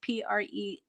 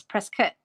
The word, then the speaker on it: Prescott: just like prescott right so prescott is p-r-e-s-c-o-t-t and people say prescott and it's press cut press kit um so unless you